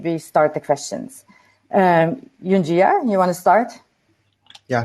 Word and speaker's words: Junjia: start the questions um yunjiya you want to start yeah sure sure um my name is rhymes with ninja that's pretty easy to remember um i joined um